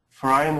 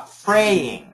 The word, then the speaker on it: fraying: word about a color is it frying or is it Fray ah fraying yes so fraying pray freay fraying fraying fraying it's just like playing playing playing praying or